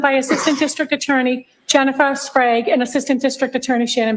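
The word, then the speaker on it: Sprague: I don't know if it's Sprag or Sprag or Sprag. I really don't know. We'll just go with Jen. Jennifer. Oh, it is pronounced sprag.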